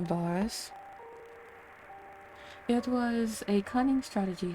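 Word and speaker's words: Varis: rest of our radios varus not theirs sorry they pronounced his name boris it was a cunning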